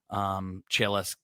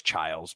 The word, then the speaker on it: Chiles: He's the reason why Chiles gives me 0. I know it's Childs, but I'm just saying it wrong the entire time on purpose.